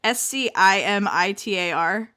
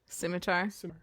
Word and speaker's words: scimitar: destruction wielding a huge okay how do you pronounce this word I feel embarrassed s-c-i-m-i-t-a-r Scimitar Scimitar and wearing a tiny mini skirt and